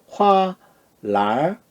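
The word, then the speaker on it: 花篮儿: 화, 랄. 끝에 운미가 n이 왔으니까 n 탈락하고 운복의 권설작용. 자, 어떻게 합니까? 랄 이렇게 되죠.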